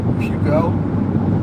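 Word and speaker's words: Peugeot: Is it pugot? I don't know how to spell it. Pugo. That's kind of what it looks like. Pugo is the is the is the car company in in in Europe.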